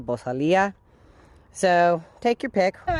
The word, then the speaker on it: Bosal: Challenge, and that is the Bosal, or pronounced Bosal. And I've also heard the vaqueros always call it the Bosalia.